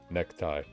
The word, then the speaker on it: ネクタイ: Nekutai. ネクタイ Yeah, I'm the one trying to pronounce it like the syllables, and then the voice for like an actual Japanese person is just like necktie.